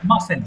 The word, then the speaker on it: mustn't: আই মাসেন্ট, সবাই একটু শুনবেন, এটার উচ্চারণ হবে আই আই মাসেন্ট।